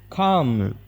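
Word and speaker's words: calm: ರಸಿದಿ ಅಂತ ಹೇಳಿ ಕನ್ನಡದಲ್ಲಿ ಕಾಮ ಕಾಮ್ ಅಂತ ಹೇಳಿದ್ರೆ ಶಾಂತ ಶಾಂತಿ ಅಂತ ಹೇಳಿ ಇದರಲ್ಲಿ ಎಲ್ ಲೆಟರ್ ಸೈಲೆಂಟ್ ಆಗುತ್ತೆ ಇದನ್ನ ನಾವು ಕಾಮ ಅಂತ ಹೇಳಿ ಮಾತ್ರ ಪ್ರೊನೌನ್ಸ್ ಮಾಡಬೇಕು ವಿಸಲ್ ಇದರಲ್ಲಿ ವಿಸಲ್ನಲ್ಲಿ ಟಿ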